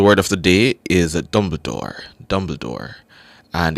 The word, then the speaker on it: Dumbledore: Excellence all right your word of the day is spelled d u m b l e d o r e that's d m b l e d o r e Dumbledore dum Dumbledore Dumbledore so the word of the